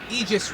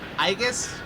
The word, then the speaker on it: Aegis: Anyway, we are finally back with some 13 Sentinels Aegis Rim. I've been told that I've been pronouncing it wrong the entire time. I kept saying Aegis because I don't know.